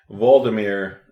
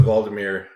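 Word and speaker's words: Waldameer: It starts with W, so I pronounce it Waldemere, the German style.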